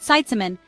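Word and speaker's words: seitsemän: saon sitan means seven it has three parts say sat like gate then whisper SE then say man like a superhero try it sitan seven is like the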